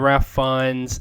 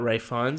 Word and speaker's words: Fiennes: Yeah, him and Ralph Fiennes and Ben Kingsley as well.